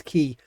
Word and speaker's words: Quay: Why do I say Quay? It's Quay.